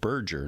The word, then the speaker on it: Berger: Berger, it's called Berger, not Burger, but it's spelled with a G.